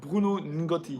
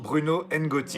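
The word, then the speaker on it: Bruno N'Gotty: How do you pronounce it again? Bruno Ngotti. Bruno Ngotti.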